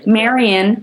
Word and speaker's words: Marian: it's a little tricky Maran rhymes with librarian and is